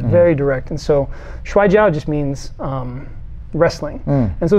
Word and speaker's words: Shuai Jiao: I mean, I know you study many styles, but the Chinese wrestling, please pronounce that for me. Shuai Jiao.